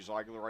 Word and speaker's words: Ziegler: The correct German pronunciation would be Ziegler.